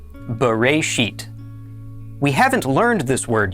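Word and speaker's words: בְּרֵאשִׁית: This is pronounced Bereshit.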